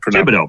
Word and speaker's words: Thibodeau: Thibodeau, brother.